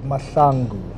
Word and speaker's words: Mahlangu: not saying it right how do I pronounce his second name you actually pronounce it mangu I'm not going to